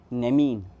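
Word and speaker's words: νέμειν: Second है नेमीन, कैसे pronounce करते हैं? नेमीन।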